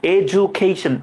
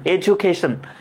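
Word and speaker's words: education: ডিজে উচ্চারণ যা উচ্চারণ। এজুকেশন। এজুকেশন।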